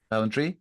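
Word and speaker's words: Ballantrae: um smugglers festival at a balentry and um Balentry, is that how you say it? Balentry.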